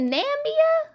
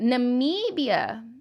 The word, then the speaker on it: Namibia: am i up nambia is it namia or namibia namibia okay i'm sorry i just had to pronounce it right because that was really